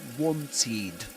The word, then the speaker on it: wanted: So we say wanted. The ed is pronounced like this.